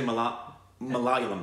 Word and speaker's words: Malayalam: Malayalam. Malayalam film. I'm sure I mispronounced that. I think that's in South India. It's one of the... It is, yes. I think it's actually Malayalam.